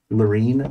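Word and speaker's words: Larine: do you spell that name Laureen l-a-r-i-n-e and does anyone have Nora and Wu on their team l-a-r-i-n-e yeah like latrine both in r okay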